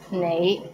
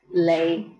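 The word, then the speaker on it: 你: is the word you the right way to pronounce it is nay but in hong kong many people pronounce it as lay how was it pretty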